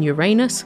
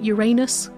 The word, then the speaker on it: Uranus: Do you pronounce it Uranus or Uranus? Because I was raised on Uranus. Then in the 1990s, it seemed like people were really trying to get Uranus to take off.